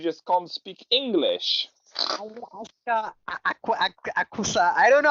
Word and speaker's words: Aqsa: Alaska, aqsa. I don't know how they pronounce this thing.